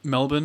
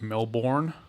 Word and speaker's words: Melbourne: refers to it as melbourne melbourne i think that's just how americans pronounce it i mean it's not hard it's not hard to just say bun as opposed to born is it i mean